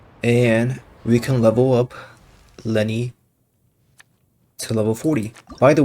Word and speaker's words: Lyney: by the way uh in the last episode I kept calling him the Lanae but uh during editing last uh yesterday my sister uh very much informed me of the fact that his name is actually pronounced Lenny so yeah sorry about